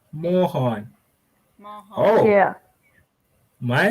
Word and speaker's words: Mahan: It's not Machan, it's Mahan. Mahan. Mohan. Mahan.